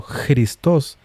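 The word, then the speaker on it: Χριστός: Cristos pronunciado Christos es la versión griega de Masiaj.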